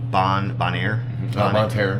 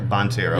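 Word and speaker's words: Bonne Terre: Specifically, was it Bonaire? Bonterre. Okay, I've been mispronouncing the city name.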